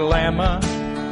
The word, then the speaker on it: llama: knickknack L is for lama lama lama what's so strange about llama llama it starts with two L's what's the second one